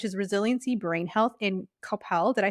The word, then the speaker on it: Coppell: And so when you look at her clinic's reels, which is Resiliency Brain Health in Coppell, did I say it right? perfect. Yes, Coppell, Texas.